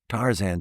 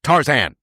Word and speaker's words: Tarzan: So Tarzan as opposed to Tarzan. But I say Tarzan.